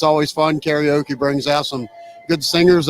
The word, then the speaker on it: karaoke: Karaoke brings out some good singers and some not so good singers, but that's what makes it karaoke.